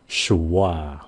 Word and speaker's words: schwa: Chỉ cần sh cái xong rồi wa, schwa.